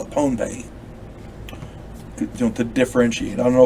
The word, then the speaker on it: Pohnpei: I'm going to say it's, excuse me, I'm going to say it's pronounced Pohnpei because otherwise it sounds like Pompeii over there in Greece, and it's not.